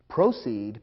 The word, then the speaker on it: proceed: Proceed, P-R-O-C-E-E-D, is pronounced slightly differently, and it means to go ahead.